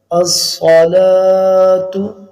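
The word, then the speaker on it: الصلاة: کے پھر بولنا ہوگا، الصلاۃ، یہ صاد ہے سین نہیں ہے، موٹا پڑھا جائے گا، الصلاۃ خیر من النوم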